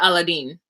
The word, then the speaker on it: Aladdin: And she pronounced it Aladdin. And so I'm going to call him Aladdin.